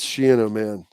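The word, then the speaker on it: Schiano: It's Shen man. That's the rhyme with piano man.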